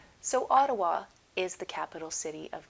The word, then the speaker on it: Ottawa: Notice I did not say Otawa the way it is spelled. I said Ottawa and that's how Canadian people say it. So Ottawa is the capital city